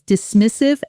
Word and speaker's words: dismissive: Because dismissive and micro grenage and micromanage both carry stress patterns that trip learners up. Listen to the stress in dismissive. Dismiss. I've The stress lands hard on the middle syllable.